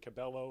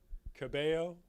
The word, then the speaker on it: Cabello: in the the two the two l's you pronounce like a y right yeah i didn't i don't know if she says that cabello or cabello camilla cabello camila cabello it's the